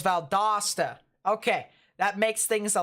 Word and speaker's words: Valdosta: you so much valdosta all right so it's valdosta okay that makes things a lot easier for